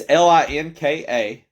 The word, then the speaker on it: Linka: I want to call it Linkenmeister. Linkenmeister. It's Linka. No, there's no spaces. It's capital L, lowercase INKA. So it's Linka. And no spaces, a capital M, lowercase EISTER. Linka Meister.